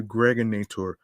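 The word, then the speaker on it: Gregnator: This is your man and homie aka the Greg Nator rhymes with now or later.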